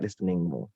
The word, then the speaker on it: listening: Jadi perbaiki saja pronunciationmu, pasti indah juga listeningmu. Ingat, listening, bukan listening banyak, tapi listening. Nggak ada T-nya dibaca. Listening.